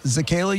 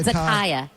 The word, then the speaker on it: Zakaya: So my question to you about this I've done server, Zakayla, you said it was? Yeah. That okay. Zakaya. Zakaya. Zakaya. Oh, Zakaya. Like Zendaya, but Zakaya.